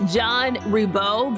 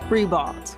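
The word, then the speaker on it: Ribault: He says the school is pronounced John Rebo. But as we know, for decades, people across Jacksonville have called it Rebald.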